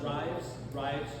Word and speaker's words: Rives: there, take a left on, is it pronounced Rives, Chapel Church Road? It's spelled R-I-V. Is it Reeves or Rives? Is it Reeves? Okay. I couldn't find the spelling, the pronunciation. Yeah. So you turn on Reeves Chapel Church Road, keep going for a little